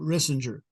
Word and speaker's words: Rissinger: uh Pinnacle Forum partner rissinger rhymes with Kissinger only with an R Henry got the money